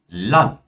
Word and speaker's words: Land: Palavras que terminam com um D, elas são pronunciadas como um T. Como, por exemplo, Grad, Bad, Kind, Wald, Land, Grund.